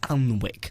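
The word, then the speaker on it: Alnwick: so we could just give it off early to this uh Hotel called the white swan in allenwick it's spelled a-l-n-w-i-c-k is that again sounds like one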